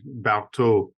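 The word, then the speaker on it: Barthod: Don't pronounce the D. Barthold.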